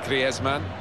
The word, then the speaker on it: Griezmann: Antoine Griezmann, who told us all before the World Cup how to pronounce his name properly. He's very much his Spanish background. Said he talks to his dog in Spanish and dreams in Spanish, so I think we can pronounce his name the Spanish way, Griezmann.